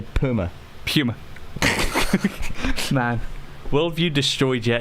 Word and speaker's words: Puma: Well, how do you pronounce Puma? Puma. No, you don't. That's a lie. That's a lie. Did you say Puma? Puma. There's a U. Puma. Like rhymes with humor. Say humor. Humor. Now say Puma.